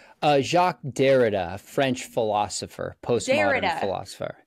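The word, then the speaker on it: Derrida: but I don't I don't know how to pronounce it it's jacqu derera you said uh jacqu dereda French philosopher post philosopher Dera yeah yes he he always comes up and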